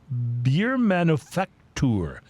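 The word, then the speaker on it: Biermanufaktur: Uh, from Albany, Vermont, the Wonder beer manufactur. And I'm going to spell that word so you know why I pronounce it so slowly.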